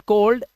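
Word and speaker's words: cold: इफ you once read this word कोल्ड, यू शुड know that this word is not silent anymore. Right? इसमें एल जो है, you have to pronounce it एट any cost.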